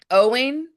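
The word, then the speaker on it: Eoin: Owen, but it's spelled like O. It's like O something. O. No, it's E O I N.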